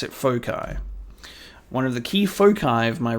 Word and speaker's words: foci: You pronounce it foci.